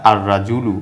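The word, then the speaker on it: الرجل: আখরটা হলো হরফে শামসিয়া যার কারণে লামের উচ্চারণটা হয় না শব্দটিকে বলা হয় আর রাজুলু অর্থাৎ রডা হরফে শামসিয়া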